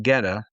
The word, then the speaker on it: Goetta: I tried to order it assuming that it had more of the German pronunciation mm. because that's who came up with it, German immigrants to the region. It's a Goethe.